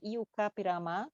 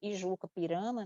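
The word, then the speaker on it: I-Juca-Pirama: Ele tem um imenso poema épico chamado Iucapirama, que a gente também pronuncia Ijuca Pirama, né? Mas em língua tupi seria Iucapirama, que é a história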